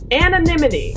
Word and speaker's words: anonymity: How do you pronounce it? Anonymity.